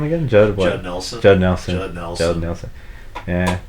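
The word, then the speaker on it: Judd Nelson: his name again Jud Jud Nelson Jud Nelson Nelson Nelson yeah easier to pronounce than Killian Murphy it's actually pronounced Jude Nel son okay fair enough deante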